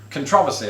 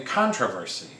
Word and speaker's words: controversy: amount of controversy because i pronounce it controversy i've said it four times now whereas a lot of americans would say controversy you know which you know there's nothing wrong with that for me this is